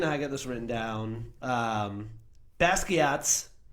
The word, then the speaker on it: Basquiat: Basquiat. Basquatch.